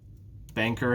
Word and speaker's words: banker: Banker has 2 syllables. Banker. And it's the first syllable that's stressed.